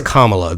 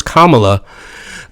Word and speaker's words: Kamala: sorry to not endorse it's Kamala the the accent is on the first syllable to not endorse Kamala I mean you're opening